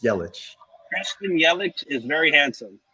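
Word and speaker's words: Yelich: yellen's mvp miami takes one game did you pronounce it yellow and then yellow and then yellow again it's yellow christian yellow is very handsome yeah right this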